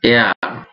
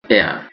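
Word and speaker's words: heir: is eating an ice cream এখানে আই এর মত উচ্চারণ হয়েছে শি ইজ অ্যান এয়ার অফ his property এখানে এইচ এর উচ্চারণ না হয়ে ই থেকে উচ্চারিত হয়েছে শি ইজ অ্যান এয়ার এ কারণে এন বসেছে দ্যাটস অ্যান এক্সেলেন্ট সং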